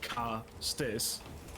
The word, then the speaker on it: Castus: Their race can be named Castus, pronounced Castis.